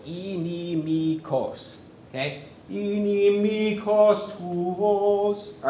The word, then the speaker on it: inimicos: Yeah, and that third word has 4 syllables. Inimikos.